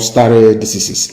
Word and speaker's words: stare decisis: It is called stare decisis. It means, I will spell it for you.